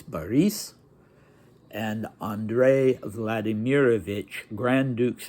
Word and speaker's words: Boris: Boris, the Russian pronunciation is Boris, and Andrei Vladimirovich, Grand Dukes Boris and Andrei Vladimirovich.